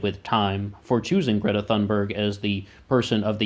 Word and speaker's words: Thunberg: differently like I noticed when Greta talks she pronounces her last name tun Barry and they um but